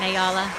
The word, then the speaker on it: Ayala: You always get that last name wrong. It is Ayala. Okay, so I got it right then? You did. Okay, all I've right. watched every Summit match, and they say Ayla, and they just haven't